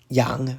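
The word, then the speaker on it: 陽: "Yang(2)" rhymes with "dang."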